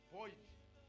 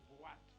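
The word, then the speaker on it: boîte: compreende, a leitura francesa pode ler como boite, mas lê-se boate. E os brasileiros hoje escrevem como se lê. Escreve assim. Boate. Mas a palavra real, no sentido originário, é assim como se escreve. E lê-se boate. E não boite.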